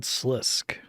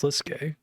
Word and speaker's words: Slisk: Sluke's game a story line someone called Slisk. It's pronounced Slisske. Well, good. I'm glad I got that pronunciation wrong myself.